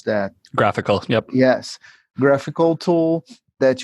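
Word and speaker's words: GraphiQL: about like graphical I don't know how to pronounce that graphical yep yes graphical tool that you can explore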